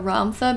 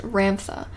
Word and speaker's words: Ramtha: probably going to slip up and call Ramtha Ramtha because that's how I thought it was pronounced at first, and so now it's like stuck in my head, but I apologize. It is pronounced Ramtha, or you can call him Ram for short.